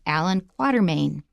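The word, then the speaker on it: Allan Quatermain: In any case, his name is pronounced Allan Quarterman.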